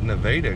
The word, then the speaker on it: Nevada: I mean, it spelled like Nevada, but they pronounce it Nevada because, well, Midwest, I guess.